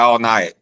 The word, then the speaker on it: Alniyat: He goes by All Night. Uh, Spell it.